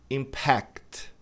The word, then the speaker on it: impact: Porque a gente tem o verbo também cuja pronúncia é impact. impact. Aí a tônica tá na última sílaba e muita gente pronuncia exatamente como pronunciou aqui, impacto.